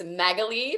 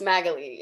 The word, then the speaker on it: Magalie: know people are listening it's magalie for anyone who is confused um it gets pronounced so many different ways which i'm totally uh i'm fine with but it's magaly is the pronunciation and i wanted to